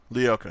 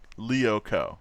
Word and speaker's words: Lyoko: Lyoko. Not Lyoko. Like... Not like liar, like I was pronouncing it, which is probably highly offensive. But like Lyoko.